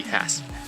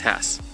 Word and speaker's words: Hass: I keep on saying Hass, but it should be Hass. It's pronounced Hass.